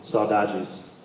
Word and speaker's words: saudades: And the word is called saudades. So if it's 3 syllables, if you don't mind accompanying me. First one is saw. Saw. Da. Da. Geez. Saudades.